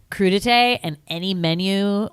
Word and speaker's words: crudité: like raw vegetables and the woman goes credit ease credit which she is trying to say crudité if you've ever heard